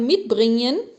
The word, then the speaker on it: mitbringen: dois verbos, o verbo mitbringen e mitnehmen. Antes de mais nada, vamos perceber a pronúncia desses verbos, tá? Mitbringen. O G depois de N não se fala. Então eu não falo mitbringen, não.